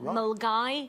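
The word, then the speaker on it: Milngavie: with Milgai. It's spelt Millingavi, but we pronounce it Milgai.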